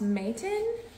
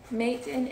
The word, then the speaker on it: Matein: I believe the brand is pronounced Matein. Matein, M-A-T-E-I-N.